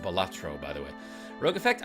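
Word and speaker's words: Balatro: It's pronounced Batro, by the way.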